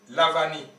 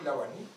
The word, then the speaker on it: Lawani: nom d'Afrique il s'appelle lavani ils ont écrit l a W A n i la France prononce V alors qu'en réalité c'est Lawani vous allez au Bénin